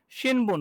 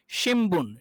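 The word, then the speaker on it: しんぶん: শি ন, এখানে হওয়ার কথা ছিল শিনবুন, কিন্তু আসলে এটা শিনবুন হবে না। অ্যাকচুয়াল আপনার হচ্ছে যদি আপনার জাপানিজ নেটিভ উচ্চারণ করেন তাহলে হচ্ছে শিমবুন, শি ম, শিম শিমবুন, শিমবুন, শিমবুন।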